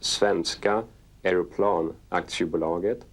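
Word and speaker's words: Svenska Aeroplan Aktiebolaget: funding approved the build-up began so that is four letters s-a-a-b and it stands for in swedish it's pronounced svenska aeroplan acts you belong it and translated into english it is swedish airplane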